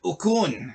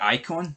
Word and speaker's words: Icon: He said Ocon instead of Icon.